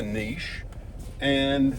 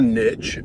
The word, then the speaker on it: niche: Let's talk about what a niche is, why you need to pick a niche, or niche, people pronounce it both ways.